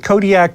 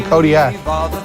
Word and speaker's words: Kodiaq: I live in Kodiaq. In the Alutiiq language, the Q's are more come from like your throat than a normal K does. How would we pronounce it then? Kodiaq. Kodiaq.